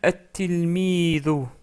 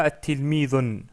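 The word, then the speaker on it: التلميذ: Remarquez aussi que le tanwin à la fin du mot qui n'est pas défini disparaît. Il va rester une seule voyelle. Donc ici la dhamma. Donc ce qui nous donne at-tilmidu, ash-shamsu, al-qamaru. On ne dit pas at-tilmidun.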